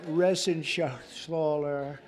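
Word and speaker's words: Reschenthaler: Shaler you know that Ren Sher he's uh that's actually the way you pronounce it you know nobody else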